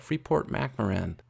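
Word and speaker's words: Freeport-McMoRan: that i really like somebody helped me pronounce it better the other day freeport mac moran it's not quite how it looks when you see it but freeport mcmaren a mining company their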